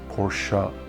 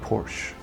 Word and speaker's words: Porsche: to death and say, no dude, it's Porsche, not Porsche.